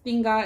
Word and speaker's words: tinga: so this is my tinga um last time i said it a little funny okay but i'm saying it right right now um this is thinga it's a mexican dish